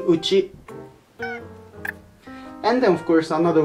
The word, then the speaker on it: 内: And the first, this letter, it's pronouncing Uchi.